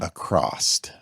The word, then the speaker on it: across: Yeah, So there's words like Yeah. across, yeah, that drives like me let's go nuts. across the street. Yeah, and there's no T there.